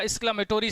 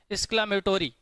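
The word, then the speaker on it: exclamatory: ना, मतलब ये आपका एक्सक्लामेटोरी सेंटेंस है, क्या है डियर, एक्सक्लामेटोरी, एक्सक्लामेटरी नहीं बोलिएगा, ये रॉन्ग प्रोनाउंसिएशन है, ठीक है, मेट्री नहीं होता, मेटोरी होता है, ठीक है।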